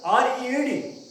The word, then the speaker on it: read: We write R-E-A-D, but we pronounce it read.